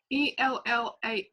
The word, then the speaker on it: ELLAH: The next is ELLAH. How do I pronounce that?